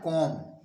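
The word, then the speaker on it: comb: है रूल पहला है यदि किसी भी शब्द में बी के पहले एम आया हो तो बी लेटर साइलेंट होता है अर्थात बी का उच्चारण नहीं किया जाता है एग्जांपल समझते हैं जैसे सीओ एम बी इसको लोग गलत पढ़ते हैं कोम बोलते हैं बल्कि इसको पढ़ा जाता है कोम कोम मीस कंघा होता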